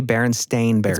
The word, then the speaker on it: Berenstain Bears: It was the Berenstain Bears in this timeline. In reality. Right. So it's just another example of something that confounds a lot of people. So it's actually Berenstain Bears.